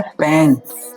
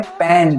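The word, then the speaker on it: pan: कढ़ाई को इंग्लिश में कहते हैं पैन। ठीक है? कढ़ाई को इंग्लिश में कहते हैं पैन। पेन। पान मत कह देना इसे।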